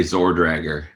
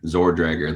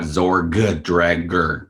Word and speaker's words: Zorgdrager: yeah i'm a zordrager zordrager the first g is silent it's not zorg dragger because that would be